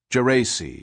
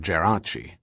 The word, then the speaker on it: Geraci: him for acceding to the American pronunciation of his name, Geraci instead of Geraci, and under numerous aliases.